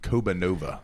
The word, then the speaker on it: Kobanova: Kobanova. It does roll. It rolls off the tongue. Once you've learned the pronunciation, because we've gotten Siri is convinced it's Kobanova.